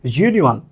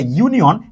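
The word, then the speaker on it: union: ইউনিয়ন এইরকমের অর্থাৎ শুরুতে যের মত।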